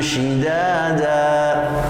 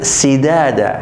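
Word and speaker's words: شدادا: Nah, pemirsa yang berbahagia, berikut yang perlu kita hati-hati di dalam pengucapan huruf sin dan shin, ya, ini kita harus hati-hati, jangan sampai dibalik, ya, dibolak-balik, jangan sampai seperti waja'alnal laila libasya, jangan sampai. Kemudian lagi wabanaina fauqakum sab'an sidada, hati-hati.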